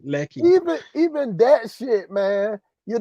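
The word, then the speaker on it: Lekki: It look good in the area, even in Lekeke. Lecky.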